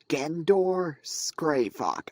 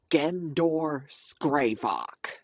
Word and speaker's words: Gendor Skraivok: Gendor Skraivok. I repeat, it is pronounced Gendor Skraivok.